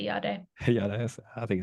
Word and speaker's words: Jade: So in Finland, I go with the Finnish pronunciation. If I introduce myself to an Italian, I might say Jade instead. But in Finland, I say Jade.